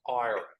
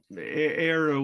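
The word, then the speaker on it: Éire: I pronoun that right is it era or IRA era era um um era would be how you'd pronounce the E and um so um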